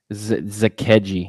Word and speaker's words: Zakelj: His name, it's Zakeji for a nice breakdown. Thank you, dude. Appreciate That's how you pronounce it? Zakeji, yeah.